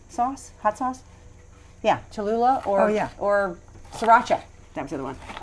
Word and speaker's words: Cholula: with tons of tons of what's it called chalula chula how do you say it cholula sauce hot sauce yeah cholula or yeah or sriracha that's the other one